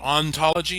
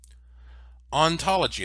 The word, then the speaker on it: ontology: you the definition here ontology and this is spelled o in like the word on ontology is the philosophical study